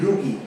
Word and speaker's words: rugae: RUGAE রুগি। ঠিক আছে? উচ্চারণটা হবে রুগি, প্রনাউন্সিয়েশনটা হবে রুগি, RUGAE।